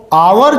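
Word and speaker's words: hour: इसको करते हैं तो एच साइलेंट होता है, उसका उच्चारण नहीं किया जाता, तो हम इसको पढ़ते हैं आवर।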